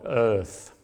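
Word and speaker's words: Eaarth: He suggests we call it Earth, E-A-A-R-T-H. He says it's best pronounced channeling your inner Arnold, Earth.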